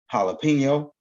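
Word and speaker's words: jalapeño: Like in jalapeno, which is spelled with a J, but it's pronounced as a H, as in Jose, as in Jesus, hail to the Greek god Zeus, right?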